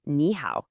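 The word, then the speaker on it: 你好: The first third tone automatically changes into a rising second tone. So, even though it's written with two third tones, it's always always pronounced as nihow.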